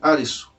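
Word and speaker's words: アリス: Inclusive o nome do protagonista é Arisu, como se pronuncia Alice lá no Japão.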